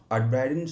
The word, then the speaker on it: Uitbreiden: So yeah um Adiden so at Brighten okay that's how you pronounce it so it's basically expand in uh Dutch so I'm uh in